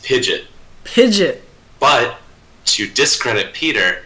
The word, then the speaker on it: Pidgeot: To give credit to Sirmina, it's not Pidgeot, it's Pidgeot.